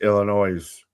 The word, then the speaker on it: Illinois: Um I just cringe from how you pronounce Illinois.